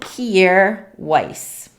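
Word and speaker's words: Kjaer Weis: anything with their name on it it's called kiere weiss let me see if this will focus i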